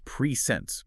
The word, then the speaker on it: PreSense: That's Preense pronounced in two distinct syllables, right?